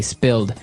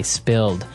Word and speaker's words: spilled: Okay, spilled. Now, it's pronounced differently from spell, right? That's right, It has spill. an I, spilled.